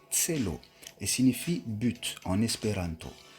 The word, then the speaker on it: Celo: en mai 2020 et son nom c'est l'eau se prononce ces lots et signifie but en